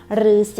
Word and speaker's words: ฤาษี: ตัว นี้ นะ คะ เวลา ที่ เรา อ่าน เรา จะ อ่าน ว่า รอ อือ รือ ส อี สี ฤาษี นะ คะ สระ อา